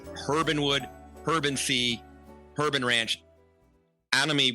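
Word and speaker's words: Herb & Wood: juggernaut behind Urbanwood, but we're supposed to pronounce the H, Herbanwood, Herban Sea, Herban Ranch, Anami, which is your Japanese concept.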